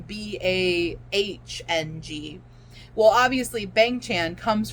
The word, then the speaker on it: Bang: Bong as in Bahng. Well, obviously Bang Chan comes from Bong, but he didn't spell it Bong. Like, he purposely spelled it Bang.